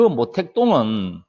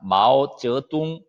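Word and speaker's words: 毛泽东: 이라고 하는 정치가 요 그러면은 그 모택동은 우리식 발음 이에요 우리가 모택동 하면은 중국 힘들당 이모 다르겠죠 그러면은 중국 발음은 뭐냐 와 워즈 둥 이라고 합니다 마우스 째 뚱 마우이 성 즐 이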